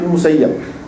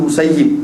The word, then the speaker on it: Musayyib: dengan dia daripada Said musayyab Said saidn musayyab atau Said IBN musayyib Boleh kedua cara baca tu tengok jangan gaduh nak menyalahkan orang tengok dulu ni tapi